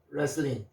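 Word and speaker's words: wrestling: 하지만 't' 는 소리 가 나지 않습니다 .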